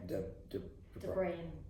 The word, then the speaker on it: Deirdre: Deirdre.